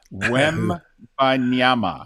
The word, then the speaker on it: Wembanyama: So, the question is, can you pronounce the name of the number one pick in the lottery? Wembanyama.